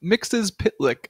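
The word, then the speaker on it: Mxyzptlk: his name is m mix's pitlick I believe is the Animated Series pronunciation but I mean it's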